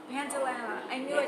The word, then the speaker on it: Pantanella: How do you pronounce yes, it? Pantanella. Pantanella.